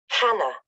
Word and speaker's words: Hannah: Hannah. Sorry, Hannah or Anna? Hannah, with an H.